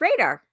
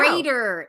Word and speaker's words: Raider: it's radar. It's No. Raider. It's Raider. Raider? Like pirates, Raider.